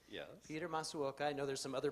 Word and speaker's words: Masuoka: Peter Masuoka. I know there's some other pronunciations that you list in here.